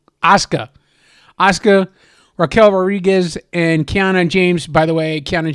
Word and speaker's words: Asuka: Um, but it had Ria Ripley, Tiffany Strand, Alexa Bliss, um, Asaka or no, I always say her name wrong. Asuka.